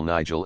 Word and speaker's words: Nigel: Alice and Mabel Nigel is pronounced as it is spelt, the last syllable as the first in gelatine.